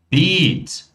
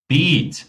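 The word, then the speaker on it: Beet: Agora, se eu falar beat, beat, mãozinha, pronúncia longa, eu já tenho um canteiro, pessoal.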